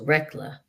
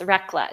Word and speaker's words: Recla: Your name is pronounced Recla. Yes, Recla. It's Italian.